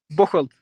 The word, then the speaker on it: Bocholt: playing for, I don't know what, I can't pronounce that team's name. So you can probably do the honours for me. Bocholt.